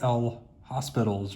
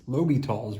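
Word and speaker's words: L'Hôpital: Looks like L. Hospital's rule, but I believe the pronunciation is L'Hopital's rule.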